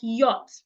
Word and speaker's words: yacht: So we can have it in words like yacht. Please don't say yacht. The CH is silent. The C and H in this word are silent. So do not say yacht, say yacht or yacht.